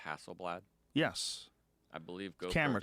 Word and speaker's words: Hasselblad: you know have you heard the company called Hasselblad yes I believe go camera company that they